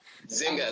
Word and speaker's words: Nzinga: Nzinga Blake. She said that. Zynga, that's Zynga. Yeah. The N is silent.